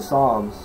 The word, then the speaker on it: Psalms: And then I looked at Psalms with a P. P-S-A-L-M-S. P is silent.